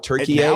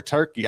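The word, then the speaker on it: Türkiye: So, are the announcers tonight, are they going to call it Turkiye the whole time? yeah. It's it's no longer Turkey. I guess we've probably been saying it wrong forever.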